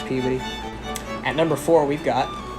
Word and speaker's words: Peabody: five we've got peabody looks like it's pronounced p body but now if you're from there you know it's puberty at number four we've